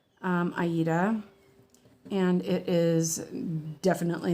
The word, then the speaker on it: Aida: I know we always say Ada, but I recently found out that this fabric is named after the opera, and I think it's pronounced Aida.